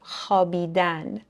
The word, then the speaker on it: خوابیدن: نکته راجع به تلفظش می‌نویسیم خوابیدن ولی تلفظش هست خوابیدن یا خواب واو تلفظ نمیشه می‌دونیم که تفاوت زیاد